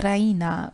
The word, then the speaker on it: Raina: she pronounces it the Rena with the stress on the e r she goes to